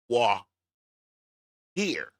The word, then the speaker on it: voir dire: She Attorney could read my title and see that Voir Dire or Voir Dire, even though it's spelled VOIR, it's not pronounced that way. It's actually spelled pronounced more like WHAWR. Voir Dire.